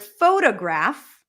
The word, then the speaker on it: photograph: we take the word photograph photograph the primary stress is on the first syllable fo fo photograph photograph if we add the